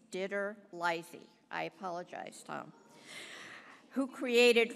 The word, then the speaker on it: DiTerlizzi: Tony Diterlizzi, who created I'm sorry, I mispronounced his name. It's Diterlizzi.